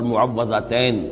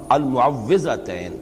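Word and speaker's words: المعوذتين: کچھ مشکل ہوتی ہے، عام طور پر معوذتین یہ غلط العام میں اس کا نام مشہور ہو گیا ہے، لیکن اصل میں المعوذتین واو کے زیر کے ساتھ۔ اور اس میں بھی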